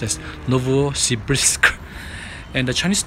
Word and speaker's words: Novosibirsk: have checked with the kite it should be pronounced as Novosibirsk and the Chinese name of the city is